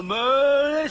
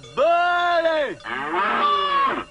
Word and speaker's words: Belay: C'est pas meulé, c'est belé. Belé. C'est quand même pas difficile. Mais c'est une bête. Ah oui. Reblochon-Belay, prononcé Belay.